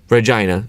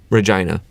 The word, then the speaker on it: Regina: you it's rejoining okay regina you know what that sounds like sounds like a certain female body part regina and they have a